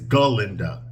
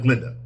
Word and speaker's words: Galinda: when he's talking to students okay he he mispronounces Glenda's name now Glenda's name right now in the movie is galinda ginda that's her name not Glinda she doesn't change it until later on her